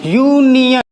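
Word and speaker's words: union: First pronunciation य, first letter का जो प्रोनाउंसिएशन बन रहा है वो या बन रहा है, और या एक व्यंजन होता है, इस वजह से यहां पर क्या होगा?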